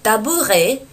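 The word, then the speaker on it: tabouret: Сразу же скажу, что табуретку я не писала, потому что это очень простое слово, le табуре, буква Т не читается только, ну а стул, la chaise.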